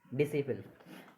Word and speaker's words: disciple: जैसे दूसरा उदाहरण देखिए, DISCIPLE, डिसिपल। डिसिप्लिन में क्या है, एस के बाद सी आ जाएगा तो इसमें सी साइलेंट है, सी को नहीं बोलेंगे।